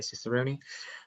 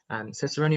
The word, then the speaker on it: Cicerone: We also have Cicerone, jury's out as to how you pronounce that one, but I say Cicerone.